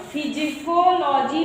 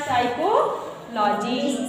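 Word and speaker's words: psychology: आ रहा समझ में ए से पहले जब पी आएगा तो पी आपको नहीं पढ़ना इसको फिज कोलॉजी मत पढ़ना से पढ़ना साइकोलॉजी साइकोलॉजी ठीक है समझ रहे हो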